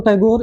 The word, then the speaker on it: ठाकुर: आप लोग देख रहे हैं होंगे कि हमने ठाकुर और टैगोर दोनों लिखा है। तो जो मूल नाम पहले था वो ठाकुर ही था, तो अंग्रेज ठाकुर नहीं बोल पाते थे, तो ठाकुर को टैगोर।